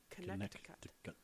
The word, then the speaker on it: Connecticut: I was pronouncing it. I was enunciating it irritatingly. Mm-hmm. Connecticut.